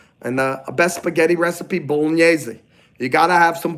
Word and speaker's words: bolognese: Technically, I don't like when Italian Americans leave off the E. They go, I need some mozzarella. I need some bolognese. And they think they're talking in dialect. They're not talking in dialect. They're just not pronouncing their words properly. It's bolognese. Mozzarella.